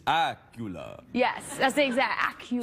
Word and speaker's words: Accola: you look very fresh sounds a bit like Dracula it does that's how I try to pronounce it on the phone when people Miss really yeah you say hello it's Miss Acula yes that's the exact